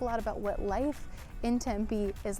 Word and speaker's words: Tempe: heard of Tempe or you thought it was pronounced tempeh it's not it's Tempe don't ask me why